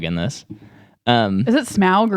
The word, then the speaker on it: Smaug: They just really wanted Smaug in this. Is it Smaug or Smaug? It is Smaug. Oh, yeah. Okay. I don't like pronouncing it that way, though.